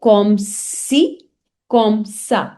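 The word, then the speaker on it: comme ci, comme ça: say so, so then comme si, comme ça. So it has C like this. It has C steady. So you say comme si, comme ça, because it gives the sound of S, so SI.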